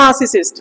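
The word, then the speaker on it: narcissist: cyst ना cyst ना नार्सिसिस्ट ना दे आर साइलेंट रहेगी यहां पे क्या कर ये साइलेंट रहेगा सुनो मेरी बात इधर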